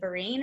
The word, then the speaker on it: Vereen: So long story short, he found out a couple days later that it was Ben, I think you say Vereen is how you say his last name, which is this guy right here.